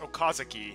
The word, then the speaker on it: Okazaki: My name is both written and pronounced Okazaki, you realize.